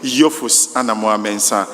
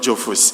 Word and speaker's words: Jophus: We've been taught how to pronounce the name correctly. So let us all take it. Yusamua and not Joffus.